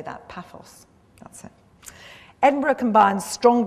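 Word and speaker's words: Paphos: Naples and P how do you say that pathos that's it Edinburgh combines strong business and leisures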